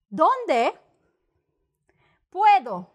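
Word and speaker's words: dónde puedo: complicated but it's not donde puedo donde puedo donde puedo con like a con artist okay see this is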